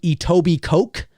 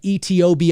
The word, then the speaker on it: Etobicoke: the west you have its spelt like itto be coke but it's or edible coke it's like eto B I see okay but it's actually pronounced Etobicoke the the the